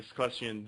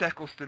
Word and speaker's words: Eccleston: That would have been a good way to like introduce it, having Esclesian there or whatever. You know, Eccleston. Yeah, I know what you mean. I can't pronounce his name.